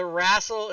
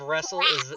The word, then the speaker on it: wrestle: i can't raffle the the rassel instead of wrestle is the same disease